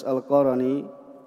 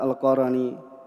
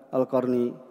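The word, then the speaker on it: القرني: berkata kepada Uwais al-qarani ini bacaan yang kita ketahui adalah alqarani mungkin yang biasa didengar adalah alqarni ya tetapi ya dalam harakat yang dijelaskan oleh ulama ya bahwasanya cara bacanya adalah Uwais alqarani yaitu dengan ya menfathah huruf ro Harim bin Hayan Beliau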